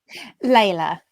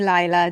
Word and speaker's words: Layla: you go welcome laila is it layla or lila layla but lots of people call me lila just because of the the way it's spelt so i'm i answer to leila and lila how have you been